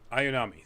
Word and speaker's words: Ayanami: and um ray i always forget how to pronounce her last name ayanami ayanami thank you um as well as a few